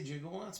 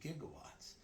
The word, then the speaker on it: gigawatts: You know why they say jigawatts? because they went to a professor who pronounced it wrong. It's supposed to be gigawatts.